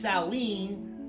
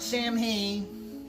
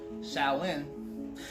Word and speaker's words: Samhain: So Samhain, or pronounced Samhain, not Samhain, Samhain, it is one of